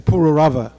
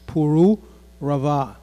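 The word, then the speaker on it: Purūravā: the words properly again most of us we grew up in this kind saying pururava but that's not the right pronunciation as you can see there are some di critics there so it's puru raava okay so King puru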